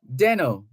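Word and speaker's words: Desnoes: why Deno is spelled d-e-s-n-o-e-s but pronounced denno it's a French name the most famous Deno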